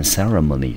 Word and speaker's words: ceremony: 好，我们看一下这个字，这个字呢变成 graduation，它的意思就是毕业或者是接受什么样的学位。我们可以在后面加上 ceremony 这个字，这个字念成 ceremony，重音节在 c 的前面。好，这个字的意思就是典礼。那 graduation ceremony 指的就是毕业典礼。好，所以呢，我们是为了什么而去的呢？我们去花莲的目的是为了 trip，是旅行。什么的旅行呢？